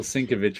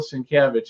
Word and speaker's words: Sienkiewicz: The thing that gets me about Bill Sienkiewicz is his name's not that hard to pronounce. It's hard to spell. Tim gets that one. Sienkiewicz, but he butchers all the other ones. Sienkiewicz.